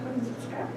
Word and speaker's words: Chojnicka: My name is Chojnicka. That's the kind of way to pronounce it, but you can call me, that's perfectly fine.